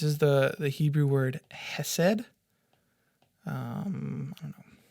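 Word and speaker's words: חסד: word um this is the the Hebrew word Hesed um has said and kindness is how it's often translated throughout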